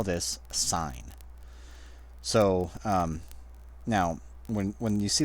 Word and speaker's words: sine: So now when you see this spelled out, it looks like sin, S-I-N, but it rhymes with dine, not with din, or not with in, whatever. So we pronounce this sine.